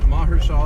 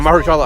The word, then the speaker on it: Mahershala: How do you pronounce it? Mahershala, I believe. Yeah, Mahershala Ali.